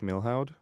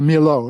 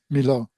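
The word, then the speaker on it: Milhaud: uh studied with Darius Milhow. Uh Milo is how you pronounce it. Yes. Um um you you don't pronounce the H or the D. Milo.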